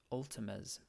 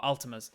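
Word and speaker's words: Altames: do that can we ask a variant about ultima's oh altimas altimas um altimez is the god the god of hunting and it's spelt a-l-t-a in my head it's a-l-t-a-m-e-s i'm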